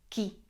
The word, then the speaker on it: chi: you about which is Ki Chi remember you're pronouncing it with a strong k sound so it's Ki this literally translates to